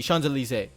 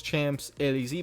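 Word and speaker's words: Champs-Élysées: ends uh on the chandelier which is that reads paris champs elysee but in french it's called the chandelier that is the most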